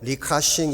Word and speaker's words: 리카싱: 층이 라고 하는 분입니다 중국 발음으로 리카싱 이라고 발음을 합니다 홍콩 최대 기업인 성큰